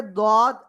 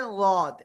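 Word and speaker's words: ض: হয় তাহলে এটা হবে, অনেকে বলে দদ, আবার অনেকে বলে লদ। ঠিক আছে, তো দুইটার উচ্চারণই সঠিক। জিব্বার গোড়ার কিনারা, মনে করেন জিব্বা এটা, জিব্বার গোড়ার এই যে কিনারা, এই পাশ ডান পাশ হতে পারে, বাম পাশ হতে পারে। উপরে মাড়ির সাথে জাস্ট লাগাবেন, লাগানোর সাথে আপনার উচ্চারণ করে দিবেন। দদ শোনা গেলে সমস্যা নেই, লদ শোনা গেলেও সমস্যা নাই।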